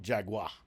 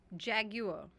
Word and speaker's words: Jaguar: It's not Jaguar, the way Okay. we say it.